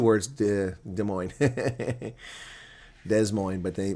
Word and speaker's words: Des Moines: Des Moines. Oh, that's not how it's spelled, but I know what you meant. Des Moines. Okay, it's 2 words. Des Moines. Des Moines, but they call it Des Moines.